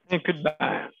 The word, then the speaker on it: Saint-Cuthbert: Non, Geneviève, elle peut le prononcer mieux que moi, c'est Saint-Cuthbert.